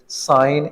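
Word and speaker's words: sign: साइन, इसमें जी साइलेंट है।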